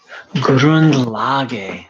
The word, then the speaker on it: Grundlage: in the good is the German word is Grundlage. Sorry, I had to look. I have it up on the wall. Is that the correct pronunciation? Yes. Grundlage, which means fundamental principle, foundation, fundamental idea, fundament, just the absolute bottom line.